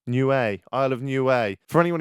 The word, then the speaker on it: Niue: Someone's DM'd me recently and said it's pronounced Niue. Niue, Isle of Niue.